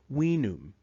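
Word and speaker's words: vinum: we D we key the letter v in classical Latin was actually pronounced more like a w we can see the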